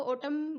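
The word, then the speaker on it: autumn: लोग कहां है और इसको अटम बोलते हैं पतझड़ को और टर्म यह यूटीयू एम एन इसमें एंड साइलेंट होता है इसको खोला जाएगा पोटम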